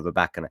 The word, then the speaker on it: Rybakina: But the Rybakina, or Rybakina, by the way, I believe it's Rybakina. Let me know in the live chat whether you put the emphasis on the first or the second syllable. As far as I'm aware, listening to her speak, it is on the second syllable, so I'm going to try and remember to call her Rybakina.